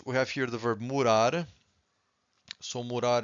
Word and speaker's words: morar: Every time you have a word that ends with an R, you stress the final syllable, okay?